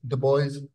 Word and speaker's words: Du Bois: the first thing is the boys as how it's pronounce now is of Haitian desent okay so it was